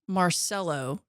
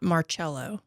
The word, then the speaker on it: Marcelo: cannot get enough however Marcelo is pronounced Marcelo not marchello Sor I shouldn't have